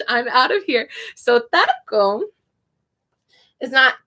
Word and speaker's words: taco: So taco is it's not a hard T, it's a soft T. So it's softer than in English.